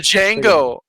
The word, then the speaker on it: Django: to it um uh next right move the Django Django the D is stent I need a